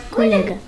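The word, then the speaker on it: kolega: Коллега. На «е» ударение.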